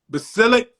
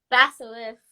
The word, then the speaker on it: basilisk: to another classroom due to correcting the teacher's pronunciation of basilic. Correct me, Al. Basilic. Does this ring a bell? Yeah. Say it again. Basilisk.